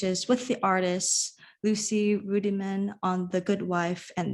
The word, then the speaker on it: Ruddiman: I'm so sorry if I've mispronounced it. No worries, it's Ruddiman, but that's fine.